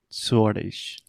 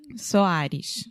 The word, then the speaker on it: Soares: E a altura se chama Lilian Suarez. Lilian Soares. Soares. Eu estava tentando pronunciar em inglês.